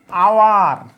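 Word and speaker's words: hour: হয় তাহলে এ হবে এইচ এর উচ্চারণ যদি অ হয় তাহলে এন হবে এবার বলেন তো প্রিয় ভাইয়েরা হোটেল হোটেল তারপর হচ্ছে আওয়ার এরপর হচ্ছে অনেস্ট ঠিক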